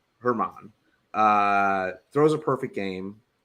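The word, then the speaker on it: Germán: German uh uh slight it's a silent G or a a light G Herman uh throws a perfect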